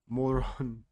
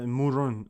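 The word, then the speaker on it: Mörön: Moron. Look at that. Moron. It's spelled like that. It's a Murun or Murun, but it's spelled like that. Like moron.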